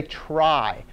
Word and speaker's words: trie: tree called a tri the guy who invented it actually pronounced it tree even though he spelled it this way who knows why right